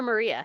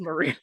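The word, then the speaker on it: Mariya: so we're calling her Maria got it yeah yeah but but it's spelled m-a-r-i-y-a so I really I had to make sure it was Maria but yeah basically Maria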